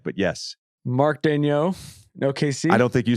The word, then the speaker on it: Daigneault: they said it's Mark Daigneault. And then if you just Google how to pronounce Mark Daigneault, it's different. It's a French pronunciation, which you just attempted.